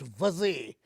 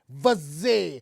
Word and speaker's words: Vaze: His name is pronounced Vaze. Vaze, not Vaze. No, you can't just do that. It's pronounced Vaze. We've researched it. It's Vaze, that's his name.